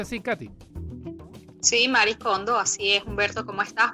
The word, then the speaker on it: Marie Kondo: ¿Se pronuncia así, Katy? Sí, Marie Kondo, así es.